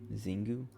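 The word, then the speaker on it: Xingu: the name's not chinese zingu noticing because it says pronunciation shingu trigon leopoldi uh okay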